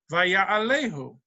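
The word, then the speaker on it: וַיַּעֲלֵהוּ: And then it says, Vaya'ala, but it's pronounced Vaya'alehu.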